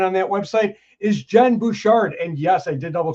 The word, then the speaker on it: Bouchard: going to find on that website is Jen Bouchard. And yes, I did double check with her on the pronunciation of her last name because I didn't want to mess it up.